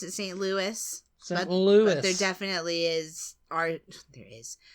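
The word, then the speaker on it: St. Louis: well um I think the majority of people pronounce it St Louis Lou but there definitely is are there is there are some people who would pronounce it St Louie and the next one Salam salum I used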